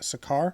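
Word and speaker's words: Sakaar: Um, it's Hulk, it's She-Hulk, and it's Brun, who are heading back to uh, effectively Planet Hulk, which is uh, Sakar, I believe it's how it's pronounced.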